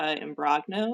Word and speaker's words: Imbrogno: shine on uh wellness and travel with and brogno and my last name is a little tricky so I will spell it for people it's i m b r